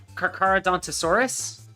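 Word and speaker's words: Carcharodontosaurus: the really long ones that always get me karadant asaurus am I pronouncing that right uh zoom in on it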